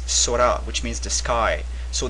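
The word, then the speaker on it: 空: So here it's sora, which means the sky. So the kun pronunciation, one of the kun pronunciations for this character is sora.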